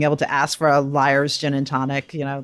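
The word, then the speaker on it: Lyre's: to ask for a liar's gin and tonic you know the double entendre of that sure it is spelled l y r e apostrophe s though and it's actually named for the liar bird in australia do yourself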